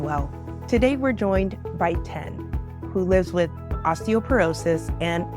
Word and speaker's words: Tien: So my name is Tien. My name is pronounced just like the number, although it's spelled Tien.